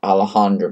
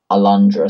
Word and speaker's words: Alundra: the longest Euro demo um how long's the Alejandra video alundra sorry I can't why don't I don't know